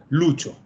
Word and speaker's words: Lucio: Si se pronuncia como nosotros le decimos a los Luis, Lucho. ¿Ya? Es un nombre, no es como aquí que es un sobrenombre. En Italia es un nombre. ¿Ya? Tenemos, de hecho, un músico italiano muy famoso, que es Lucio Dalla. Lucio Dalla. Uh-huh. Y se pronuncia así, Lucio.